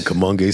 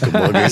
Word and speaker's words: Kamoinge: You see the Kamoinge standard. The Kamoinge standard whatever you personified. choose, I'm okay with it. There you go. Sounds good. By the way, we keep mentioning the word Kamoinge.